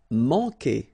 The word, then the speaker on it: manquer: Manquer. Okay, remember when we get this Q, after that automatically we get this U, but then we don't pronounce the U, okay? So manquer. So it's really que.